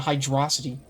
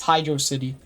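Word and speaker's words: Hydrocity: It's hydro city. That's how it's spelled. That's how it's pronounced.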